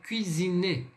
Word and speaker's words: cuisiner: a pronúncia do U, lembre-se, a letra U no francês nada mais é do que o som de I com um biquinho. Então é U, d'accord?